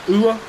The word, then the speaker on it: ua: So the Māori word for rain is ua, U-A, u-a. So you can say u like E-W and a like A-H.